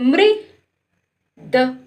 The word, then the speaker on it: मृद: अब देखो माँ में लग गई तो माँ में लग गई री की मात्रा तो मृद। क्या पढ़ेंगे? मृद। मृद। मृद पढ़ेंगे।